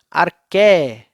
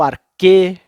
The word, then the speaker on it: arché: eles vão chamar de arché ou arché. Tem várias pronúncias, fique tranquilo, tá? Pode chamar de arché, ou arché, ou arquê, fique à vontade.